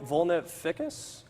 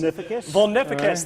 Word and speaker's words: vulnificus: i'll pronounce this correctly vibrio vulnera ficus close close vulnificus there we go this year in the